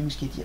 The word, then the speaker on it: Muschietti: bien différent si andres mousse kitty ou gucci je sais pas comment on prononce moi qui rêve objective mais on dit musketier apparemment le réalisateur de mam